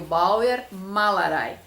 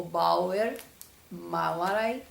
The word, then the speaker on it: Bauernmalerei: Foi o Bauernmalerei, que é uma palavra composta, tá? Formada, então, por Bauern, até o N, que a gente não pronuncia assim quando fala rapidinho, né?